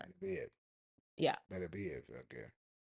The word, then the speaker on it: Beterbiev: Is it Beterbiev? Nobody knows how to Better pronounce. be, well, Butterbeef, Beterbiev. I've heard it all. if you're not Benavidez, that's No, no, it's better be definitely it. not. Better be it.